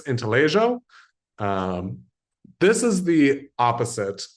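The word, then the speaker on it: intaglio: I do believe the correct pronunciation is inaljo. Um, I do believe it's Italian. And Italians, just like lasagna, uh, don't really pronounce their G's. So, I believe it's intellig.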